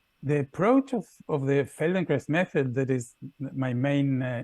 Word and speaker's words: Feldenkrais: very static the the approach of of the feldenkrais method that is my main inspiration for this